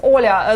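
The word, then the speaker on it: Оля: The Olga from Kyiv office pronounce it Olga. Ola. She says Oля.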